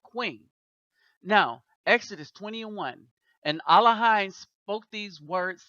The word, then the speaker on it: Elohim: Now, Exodus 20:1, and Elohim spoke these words saying, and it's Elohim, not Elohim. All right, it's Elohim. That's how it was originally written and pronounced.